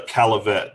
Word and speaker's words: Caillavet: my name is and get my last name ride I get tired of people saying it wrong it's a caliphate just if you see